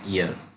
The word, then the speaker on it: heir: ये एच यहाँ पे साइलेंट है, एच यहाँ पे साइलेंट है. ईयर इसको प्रोनंस इसका है ईयर.